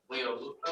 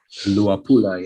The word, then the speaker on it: Luapula: So based on all the information around with the Leolupa, am I pronouncing that right? Luapula, yes.